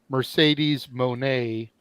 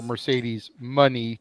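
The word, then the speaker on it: Mercedes Moné: couple people tell me it's money because it's playing off of the Sasha Banks so Mercedes money until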